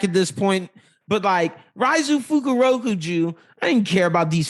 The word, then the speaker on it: Fukurokuju: Fukukujiro or Fukurokujo. Yeah, Fukurokuju. Yeah, thank you.